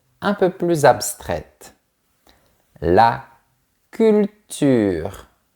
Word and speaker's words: culture: La culture. Bouche fermée deux fois et on entend la lettre L au milieu. culture.